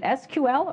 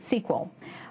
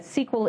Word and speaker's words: SQL: Is it SQL or is it SQL? My friends in industry tell me that SQL is the in pronunciation, so that's the one I'll be using.